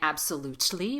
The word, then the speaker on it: absolutely: Instead of saying absolutely with a true T, we stop the T before it pops.